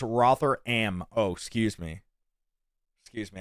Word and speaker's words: Rotherham: there a is there a website Rotherham is pronounced rotheram oh excuse me excuse me a thousand pardons